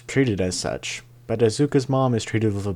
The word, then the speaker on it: Asuka: treated as such but asuka's Mom is treated with a bit more importance because it explains why auka is auka oh God I mispronounced her name Asuka okay I'm leaving this